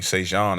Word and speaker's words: Sejan: Hey, DT, before I say anything, Sejan is pronounced Jean, like Jean Baptiste.